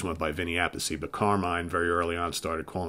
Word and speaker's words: Carmine: From what I understand, Appice is the Italian way to pronounce the name. You know, because Vinny, his brother, always went by Vinny Appice, but Carmine very early on started calling himself A Piece.